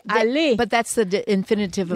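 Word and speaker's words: aller: e r yeah say Ali but that's the infinitive of infinitive yeah um this the r at the end is silent the e r is silent unless it has an e after it and then you have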